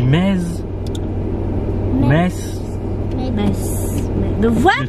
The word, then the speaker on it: Metz: Ben, il ne prononce pas le Z. Donc, ça qui ben, est... si, on dit mez.